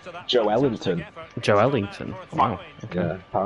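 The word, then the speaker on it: Joelinton: You like Joel Linton, Miles? Oh, apparently the way to pronounce according to the Brazilian guy that I read on Twitter is Joe Ellington.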